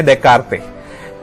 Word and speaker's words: Descartes: पहला है Renee देकार्ते। S silent है इसमें, दोनों एस, पहला और दूसरा, देकार्ते।